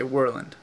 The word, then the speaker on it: Worland: If you're Alaskan, you'd say Worland. If you're Seattleite with New York inflection, you might say Worland. And if you're correct, you would say Worland.